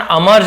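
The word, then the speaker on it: emerge: अमर्ज, इमर्ज ऐसे लग रहा होगा लेकिन इसका उच्चारण अमर्ज बोलते हैं।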